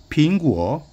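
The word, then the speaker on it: 苹果: 빙구어 이렇게 이제 발음할 수 있고요.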